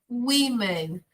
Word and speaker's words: women: No plural, women. A pronúncia muda completamente. Women. Women. As 3 primeiras letras, elas são iguais, porém, no finalzinho, eu mudo a vogal só.